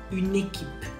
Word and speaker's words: une équipe: Une équipe. When you say it fast, it goes like une équipe.